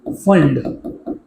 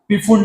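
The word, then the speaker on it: Pfund: Lyman bracket, sorry बाल्मेर, पास्टेन bracket end फंड। यहाँ पे पी silent है, पी फुंड मत बोल देना, बोलते हैं कुछ कुछ पी फुंड, ठीक है, पी फुंड, मैं इसको फंड बोलने वाला हूँ, फुंड फंड, राइट।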